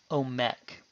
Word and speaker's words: Omek: And because no stress is marked, we put the stress on the final syllable, omek.